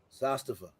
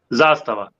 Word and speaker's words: Zastava: my name exactly and it's very easy to pronounce it zastava you just put a stress in the first part of the world yeah we need billy